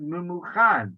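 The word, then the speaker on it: Memucan: It is written in a different way than it's pronounced. We pronounce it Mumuchan because that's his name. We know that from before. But it's written Mumkan.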